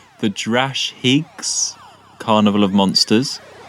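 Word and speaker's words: Drashig: category best monster and the nominees are the jurash oh no we're gonna say it wrong the drash higgs carnival of monsters the draconians frontier in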